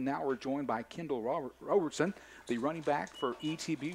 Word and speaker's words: Roberson: To be honest, I've heard Robinson, but it's pronounced Roberson.